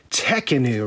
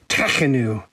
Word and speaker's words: Tekhenu: first tip is that the u is an oo sound and then the next tip is that the emphasis is on the tech part and the toughest part